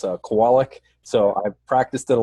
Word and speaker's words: Kowalick: see ya and yeah it's if I didn't pronounce his last name correctly it's a Kowalik so I practiced it a lot to get